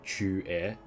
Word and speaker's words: Qingque: But like, because that syllable that I just pronounced chu is not in the English language, it'd be easier for you to like go like chu and then really quickly. So it'd be Qingque.